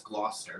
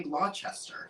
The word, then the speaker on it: Gloucester: I probably would say Gloucester. Gloucester. Because of the way it's spelled. Right. So that's not incorrect. That's just not the provincial local pronunciation of it.